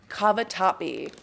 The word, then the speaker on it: cavatappi: How do you pronounce that? Cavatappi.